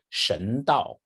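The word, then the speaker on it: 神道: The two Chinese characters are the Chinese pronounce it Shen Dao.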